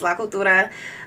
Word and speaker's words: La Cultura: Some folks say La Cultura. It's pronounced La Cultura.